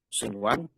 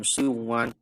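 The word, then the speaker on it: صنوان: Sinwan ini bacanya sinwan, bukan siwan.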